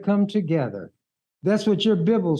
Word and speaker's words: Bible: together that's what your Bibble says come let us reason together I'm not mad at you because you mispronounce it Bible and you're going to be mad at me because I pronounce it correctly Bibble excuse me